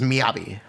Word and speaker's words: Miyabi: Miyabi isn't exactly or Miyabi. I believe it's technically Miyabi. The correct way to pronounce it is Miyabi.